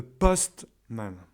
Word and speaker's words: postman: facteur, donc le facteur, il faut l'accentuer sur la première syllabe, ce qui donne a postman. A postman. Il faut insister sur le post. Postman. Et le man, il devient quasiment presque muet.